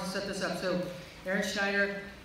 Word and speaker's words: Erin Schneider: So Aaron Schneider, Luann Swedberg, did I get that pronounced right?